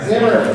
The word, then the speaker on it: Xamarin: So, what makes Flutter different from React Native or is it Xamarin Forms? I don't know how to pronounce it. Xamarin, thank you.